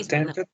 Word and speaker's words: attempted: The correct pronunciation is attempted. Attempted. ¿Por qué? ¿Por qué attempted? Porque aquí sí va a sonar la E como una I. ¿Por qué? Because the word finish in T.